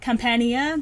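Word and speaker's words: Campania: like boat arcs like the black butler companion compania that's how you pronounce it that is one of my favorite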